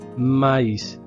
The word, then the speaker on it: maïs: Le S ici se prononce.